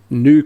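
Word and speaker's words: GNU: or at least the the new compiler that's a silent G by the way that's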